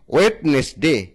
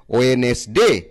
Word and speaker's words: Wednesday: অনেকেই আমরা উচ্চারণ করে থাকি ওয়েডনেসডে, কিন্তু ওয়েডনেসডে উচ্চারণটা সঠিক নয়। সঠিক উচ্চারণ হচ্ছে ওয়েনেসডে। তাহলে WEDNESDAY, ওয়েনেসডে। এখানে ডি হচ্ছে সাইলেন্ট ওয়ার্ড।